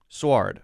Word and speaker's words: sward: i want to make sure i've got the pronunciation of this one so let me just search swrd search that here we go sward okay that's what i said right suar squared